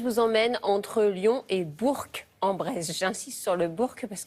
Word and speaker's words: Bourg-en-Bresse: Alors ce matin, je vous emmène entre Lyon et Bourg-en-Bresse.